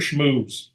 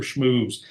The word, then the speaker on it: Schmooze: Schmooze. And that's spelled SHMOOZE, Mr. Schmooze.